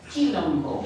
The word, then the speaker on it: quilombo: Quilombo, with a Q, quilombo.